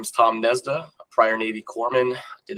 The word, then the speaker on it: Gnesda: Tom Gnesda. Gnesda. Oh, the G is silent.